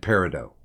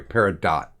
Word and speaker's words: peridot: citrine pink tourmaline and Peridot I'm sorry Peridot that's how you actually pronounce that um I will put